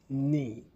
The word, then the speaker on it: knee: Knee, knee with a silent K.